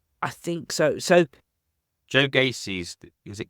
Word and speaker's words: Gacy: So Joe Gacy's, is it Gacy?